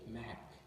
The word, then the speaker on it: Mach: You have the black word, and it's pronounced M-A-H-K, Mach.